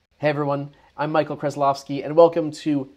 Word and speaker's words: Krasilovsky: And the reason why I am telling you how to pronounce my name, Krasilovsky, is because there is actually another Michael K